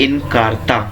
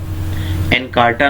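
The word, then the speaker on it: Encarta: इसके एग्जाम्पल्स हैं Microsoft इनकार्टा, Mavis beacon, दोबारा बोल रहा हूँ, माइक्रोसॉफ्ट इनकार्टा, एनकार्टा नहीं, इनकार्टा, मेविस बीकन, इसको क्लियरली प्रोनाउंस करना।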